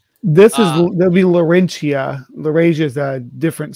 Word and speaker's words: Laurentia: doing its own thing is it is it pronounced russia this is there'll be laurentia the rage is a different super continent that